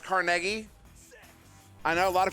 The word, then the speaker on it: Carnegie: way it is pronounced carnegie i know a lot of people like actually it's carnegie no that's your americanized version of a polish man's name carnegie i'm literally from